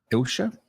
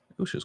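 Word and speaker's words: Eilsha: Ilsha? Ilsha's quite a cool name. E-I-L-S-H-A. Ilsha. Ilsha, okay. That is spelled E-I-L-S-H-A.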